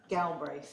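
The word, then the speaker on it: Galbraith: Galbra. Can you spell that for me?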